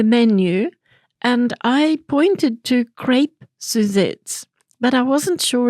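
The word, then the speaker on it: crêpe: I've asked my friends, how do we pronounce that word? And they told me crepe. And the gentleman said, well, I don't care. This is how we say it, and it's crap.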